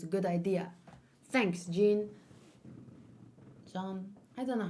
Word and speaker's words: Jean: John. I don't know how to say his fucking name. John. John. It's John.